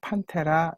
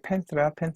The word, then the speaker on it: Panthera: 그래서 판테라, 이게 정확한 라틴어 발음입니다. 근데 이제 영어를 쓰는 영어 사용자들, 미국, 영국을 포함한 이런 사람들이 펜트라 하죠.